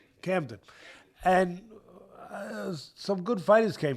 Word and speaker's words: Camden: Well, first of all, he comes from Cadman, New Jersey. Uh, am I saying it right? Yeah. Right. Camden.